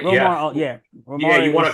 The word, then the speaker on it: Romar: Am I pronouncing that right? Romar, yeah.